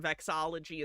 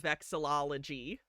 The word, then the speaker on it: vexillology: I call it vexology instead of vexillology.